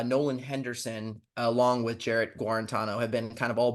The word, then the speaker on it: Guarantano: so uh Jared uh Jared guarantano I think is how you pronounce his last name so there's been a